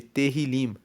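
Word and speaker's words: Tehilim: Tanto que o livro de Salmos, ele é chamado no hebraico, no texto original de terrilim. Se escreve T E H I L I M, que quer dizer louvores.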